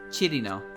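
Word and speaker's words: Cirno: lot of people say cheer no as well but it's like cheated now right cheating like chili chirino we uh english tends to use two syllables for her but it's three syllables although i cannot i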